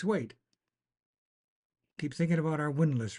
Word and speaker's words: windlass: Now you know what a windlass is. A windlass. Windlass. That's how it says it's pronounced.